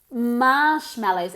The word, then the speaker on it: marshmallows: uncountable next one marshmallows marshmallows emphasis on the first syllable Marsh marshmallows very good ginas wine